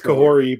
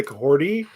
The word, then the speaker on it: Kahori: It's Kahori, but they also say Kahorti and Kahortli. So I think it's like one of those things where like the actual pronunciation is so not English that it's like debatable what actual letter is pronounced there.